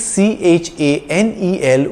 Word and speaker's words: Chanel: english word channel it's c h a n e l with a single n and it's pronounced chanel because ch is pronounced sh in french chanel is a french